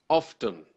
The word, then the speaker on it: often: me I would say often well 30 I would I would I would pronounce with the T yes but that seems